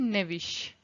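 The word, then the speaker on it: knavish: एंड एक और word होता है, ये तो लेविश होता है और एक होता है नेविश, जो कि के साइलेंट होता है.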